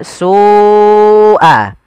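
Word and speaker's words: سُوٓءَ: Karena pada lafal su awalnya dia dua harakat karena datang setelahnya huruf hamzah dan hamzah tersebut pada satu kata, maka kita namakan dengan mad wajib muttasil. Jadi kita membacanya seperti apa? sua. Sua ya dipanjangkan dahulu.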